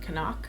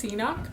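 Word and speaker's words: CNOC: Then I also brought the Canuck, which I recently found out from their Instagram is how you say it, Canuck. But I've always referred to it as Canuck.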